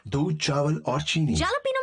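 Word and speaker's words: jalapeño: जालापीनो में जे को कैसे प्रोनाउंस करते हैं? उससे H की आवाज आती है।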